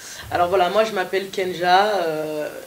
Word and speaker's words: K'NJAH: voila moi je m'appelle kenja alors mon 100 à apostrophes angie h parce que je sais qu'il est pas facile à prononcer et à retenir donc